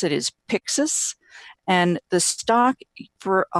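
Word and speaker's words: Pyxus: about 400 million and the way that you pronounce it is Pyxis and the stock for a hundred and forty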